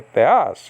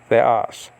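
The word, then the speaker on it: θεός: There's 2 syllables in theos, right? You have the, and then you have as. You don't say theos, you say theos.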